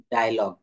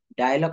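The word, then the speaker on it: dialogue: থাকবে আমরা একটু আগে একটা পড়ে আসি উদাহরণ ডায়লগ ডি আই এল ও জি ইউ ই ডি আই এল ও জি ইউ ই ডায়লগ শব্দের অর্থ হচ্ছে কথোপকথন ডায়মন্ড ডায়মন্ড শব্দের অর্থ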